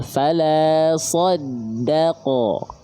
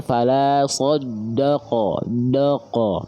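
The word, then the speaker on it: فلا صدّق: Shya tebal eddanya tipis qya tebal. Fala shoddaqo. Jangan fala shoddaq doqo. Nah, jangan sampai huruf dalnya terkontaminasi oleh huruf tebal karena huruf dalnya adalah huruf yang tipis karakter pelafalannya ya.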